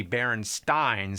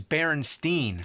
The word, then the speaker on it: Berenstain: not an a actually the most likely pronunciation would be baron Stein since it was spelled the same way like Frankenstein but everybody I ever met says Berenstein yeah I can prove